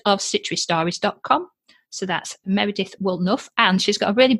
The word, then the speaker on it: Woolnough: looks a bit confusing it's just enough wool enough will to make a jumper which i thought was